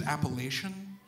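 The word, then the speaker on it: Appalachian: who said like uh i believe the correct pronunciation is appellation the other kids in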